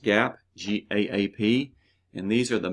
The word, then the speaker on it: GAAP: so GAAP yes is pronounced GAAP GAAP and these are the main rules standards